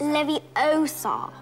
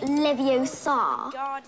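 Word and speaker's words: Leviosa: I can totally relate you're saying it wrong it's Lev Oar not Lev Oar you do it then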